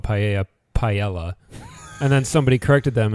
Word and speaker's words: paella: corrected them and said, it's actually paella. And he's like, what, are we all trying to sound Latino? And so I was kind of like, that's the word, though. Like, that's how you say it. That is the pronunciation of that word.